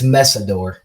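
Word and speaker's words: Mesidor: Messidor, maybe Masorder. I don't know how to say his last name. 2 pass rushers. I got you. It's Messidor.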